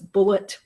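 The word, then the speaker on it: Bulleit: Thomasville Road and bought Bullet bourbon or maybe it was bullet Ry whiskey but it is pronounced bullet and the police did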